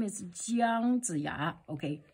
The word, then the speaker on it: 姜: There is a pronunciation as jiāng, jiāng, jiāng, okay, jiāng, jiāng. The second, the first tone, and ji, jiāng, jiāng, okay.